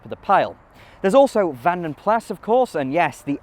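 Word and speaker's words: Vanden Plas: a Flemish family name it's not French and so the S is not silent even if BMC later British leand did occasionally leave the S off and pronounce it as vanam pla anyway there was not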